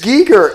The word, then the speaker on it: Giger: a big argument that they think it's g g it's Giger it's Giger and they even talk